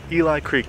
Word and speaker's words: Eli Creek: Our next stop is Eli Creek, not to be confused with Ellie Creek, because it's spelled exactly the same as Ellie's name.